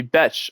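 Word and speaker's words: Bech: 12 yards to Jack Beck. Excuse me, Bes. I've heard apparently I've been pronouncing it wrong. I'd like to apologize. It's Bes like B.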